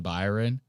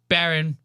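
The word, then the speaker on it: Barron: Trump talks about his son Byron. And I thought that this was funny as hell, dude. This is so funny. The way or Byron Baron. I said his name wrong. Baron.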